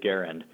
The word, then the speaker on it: Garand: me out and say actually he pronounced it garand and then much to